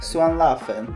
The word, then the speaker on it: 酸辣粉: Today we're gonna make Suan La Fen. Yep. I don't know if I said it right. But no, you said it right, yeah. Okay. Suan La Fen.